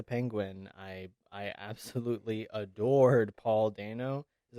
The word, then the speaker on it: Dano: I absolutely adored Paul Dano. Is that how you pronounce it? Dano? Yeah, Dano.